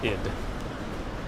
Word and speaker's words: id: how to say it i know it's id like the ego i should do a